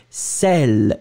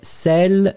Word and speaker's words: sel: deux sons qu'on a le premier ouvert et c'est celle des sel sel sel et puis le deuxième